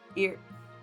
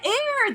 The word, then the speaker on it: heir: How do you say that word? I ear. I don't know. I suppose it's not useful but not necessary. Air. Every time I say it, everything feels wrong. Air. Oh, yeah. Air. That's how you say it.